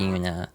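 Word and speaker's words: Yoona: Yuna spelled Y O O N A but pronounced the Yuna.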